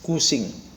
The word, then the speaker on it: kusing: Kucing bahasa Karonya itu kucing juga, tapi ada perbedaan pengucapan di huruf C-nya, diganti dengan S, atau ada perubahan di situ menjadi S, kusing.